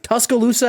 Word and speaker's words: Tuscaloosa: Tuscaloosa, Alabama?